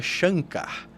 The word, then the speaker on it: Shankar: pronúncia é mork e o nome chanar se pronuncia Shankar é assim que é a pronúncia então ele